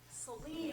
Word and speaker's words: Celine: The first student, Lindley Sullen or Seelan. Is it a long E or short E? Celine. Oh, I was way off.